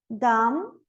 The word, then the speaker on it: dumb: Por exemplo, dumb, thumb. Eu não pronuncio o B.